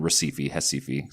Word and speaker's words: Recife: I grew up in Recife. So that's ours are pronounced like H's, which is right below the equator.